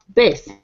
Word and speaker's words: bass: when it comes to music uh it's Basse base it sound just like b a e when